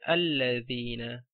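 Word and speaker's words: الَّذِينَ: wasl in the beginning, then you have to pronounce it. You have to say alladhina.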